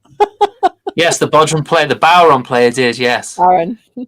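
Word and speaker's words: bodhrán: Yes, the Bodrum player, the Bowron player did. Yes, Aaron. Bowron. That's all right. It's spelt funny. It's Irish.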